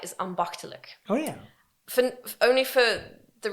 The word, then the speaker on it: ambachtelijk: but I can remember ambachtelijk. so yeah, that's... Your pronunciation is quite Thank good, you. because the CH is a really hard sound for, let's say, native English people.